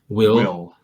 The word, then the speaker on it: WILLE: Like this is Nerve, and that was Will. Yeah. So, WILLE. Yeah. I think they pronounce it Will in the movie.